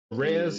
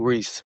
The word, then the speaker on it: Res: Rez, Mm-hmm. I still don't know how to pronounce her name, It's Reese.